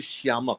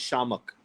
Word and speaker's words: Shiamak: that the world is Shi a Mak hmm but no one calls you Shama this is Shah mock because I was the I to be silent that's true yeah so the eye is silent as to be ego